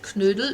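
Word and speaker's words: Knödel: you would do dumplings or they call them canoodle there's something you can practice can you say canoodle practice that because that's with a k n um loud o and it's pronounced pronounced canoodle it's it's such a German word oh got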